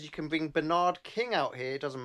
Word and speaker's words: Bernard: 1977 to 1993 but Americans say the word Bernard wrong it's Bernard not Bernard that's right oh Berard